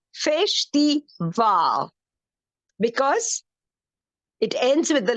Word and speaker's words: festival: very good fish theal the stress is on the last syllable fish the V because it ends with